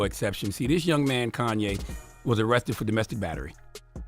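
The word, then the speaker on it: Khanye: man was 20 years old his name was Kanye but it's spelled k h a n ye e he's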